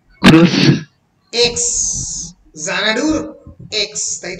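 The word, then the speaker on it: Xanadu: English alphabet তাই তো যখন জানাডু উচ্চারণ করছো কি দিয়ে উচ্চারণ করছো কি দিয়ে প্রোনাউন্স করছো কি দিয়ে মুখে প্রোনাউন্স হচ্ছে জানাডু জেড দিয়ে জানাডু লিখছো কি দিয়ে এক্স দিয়ে এর মানেটা কি একজন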